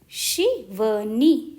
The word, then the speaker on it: शिवानी: की मात्रा शिवानी शिवानी देखो छोटी ई की मात्रा है तो उच्चारण कम होगा श और ना बड़ा है बड़ी तो नी शिवानी शिवानी अब जैसे